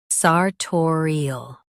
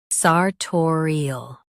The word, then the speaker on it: sartorial: Today we will learn how to pronounce the word shown on the screen, sartorial. Both US and UK have the same pronunciation of this word, sartorial.